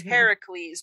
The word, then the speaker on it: Heracles: Well, because Hercules is the way the Romans said it, but in Greek is Heracles.